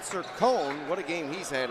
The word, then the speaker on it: Sircone: with the finish and a little pronunciation changed their coach as we had a little confusion on that to begin the game i'll take responsibility for that but shane sir cohn what a game he's